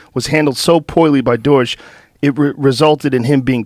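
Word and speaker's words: Deutch: Well the guy who was the head of the CIA the director of cell central intelligence agency in 96 was Don John Deutsch.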